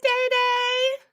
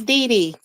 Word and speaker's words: Dee Dee: it's Dee Dee. I always say that. My niece, her name is spelled like this sometimes. I say sometimes because it's really D with the E over it, but people spell it Day like this.